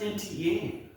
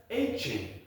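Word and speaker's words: Etienne: So, all along we've been ever since college, everybody's been calling him Travis Antienne. That is not actually how you pronounce his name. It's Travis Aen.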